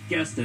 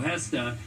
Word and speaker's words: Gesta: of minutes mercio hesta sorry mercio I was pronouncing it guesta it's mercio hesta you want to pay